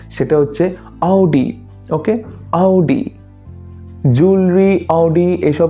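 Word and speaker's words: Audi: এই শব্দটা প্রায় উচ্চারণ করে থাকে শব্দটা হচ্ছে অডি কিন্তু অডি একচুয়াল প্রোনাউন্সিয়েশন না তাহলে একচুয়াল প্রোনান্সিয়েশনটা কি সেটা হচ্ছে অডি ওকে আউডি জুলু আউডি এসব তো হলো।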